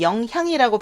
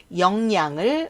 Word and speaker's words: 영향: 부모의 영향 많이 받는다 원래 영향인데 앞에 이응이 히읗을 약화시켜 그래서 영향이라고 발음하지 않고 영양을 많이 받는 받는다 이렇게 얘기를 하죠 은행